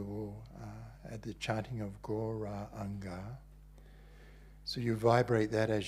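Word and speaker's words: Gauranga: So Go, Ra, Anga, these 4 syllables.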